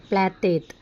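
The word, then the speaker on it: Πλάτων: അടുത്ത क्वेश्चन, प्लेटो अंग्रेजी भाषा का शब्द है, इसका यूनानी उच्चारण क्या था आंसर प्लेटेत.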